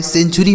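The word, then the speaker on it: century: टी यू आर वाई सेंचुरी मतलब क्या होता है शताब्दी इसे सेंचुरी नहीं पढ़ेंगे करेंगे दोस्तों सेंचुरी यहां पे जो टी है ना इसका उच्चारण हमें च करना होगा ठीक है सेंचुरी मतलब शताब्दी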